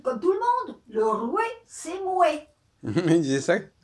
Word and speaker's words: roi: non c'était l'ancien français c'était la façon de prononcer le français c'était le code de prononciation l'ancien français c'était le euh le roué c'estè c'est Mo oui c'est ça le dit comme tout le monde le roué c'est Mo oui très intéressant les